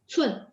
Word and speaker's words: 寸: Cun, cun itu dia C, jadi bacanya ada angin.